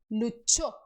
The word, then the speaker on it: luchó: E tem esse som, che, che. É o mesmo som que nós usamos na palavra tchau. Tá? É o mesmo som que nós usamos na palavra tchau, tchau, tá? Mas no espanhol se escreve só com CH.